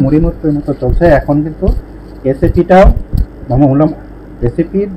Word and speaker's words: SAP: এখন এই এসএপিটা আসলে কি, আমরা আরেকটা জিনিস শিখে নেব, সেটা হচ্ছে এসএপি। এটা আলাদা আলাদা উচ্চারণ করব না, এটা অনেকেই স্যাপ উচ্চারণ করে, যদিও এটা আসলে ঠিক না।